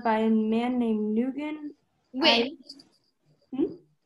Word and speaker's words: Nguyen: Win. Hmm? That's pronounced win.